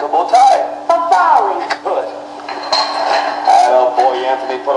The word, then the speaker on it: farfalle: Farfalle. No, no, you pronounce it farfalle, like a bow tie. Farfalle.